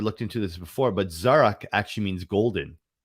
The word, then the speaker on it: Zarak: because it's uncomfortable or inconvenient my name is zarak and I will work with you for you